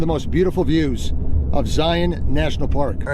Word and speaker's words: Zion: Oh, by the way, it's Zion. Zion. Zion. But I'll get comments down below if you mispronounce the name.